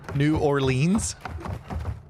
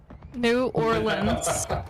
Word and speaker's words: New Orleans: New Orleans. New Nolan's. Orleans. Securing objective Alpha. Nolan's. We're taking Alpha. It doesn't even have the right pronunciation on there. New Orleans.